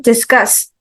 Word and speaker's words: discuss: syllable maim and then discuss yes second syllable and then employ Mite